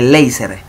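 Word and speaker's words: Leiser: se lo conoce como el cabum suprapubicum de laser.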